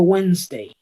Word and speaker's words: Wednesday: las pronuncio todas cierto por ejemplo esa d no no suena mucho yo digo wednesday w wednesday w e n s solo son las que suenan wday error común decir